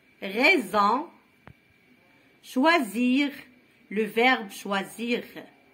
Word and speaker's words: choisir: Raison, choisir, le verbe choisir. Le S entre I et I, entre deux voyelles.